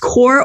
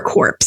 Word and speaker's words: corps: Now, the members of this corps, I don't know if it's pronounced corps or corpse. I'm going to say it is corps. The T is silent.